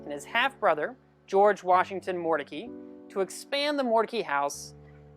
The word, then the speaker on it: Mordecai: he lived in raleigh the pronunciation of the family name shifted from mordecai to mordecai now moses and